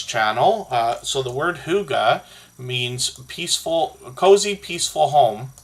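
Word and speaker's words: hygge: The word huga, which is pronounced h o o g a in English, but is um spelled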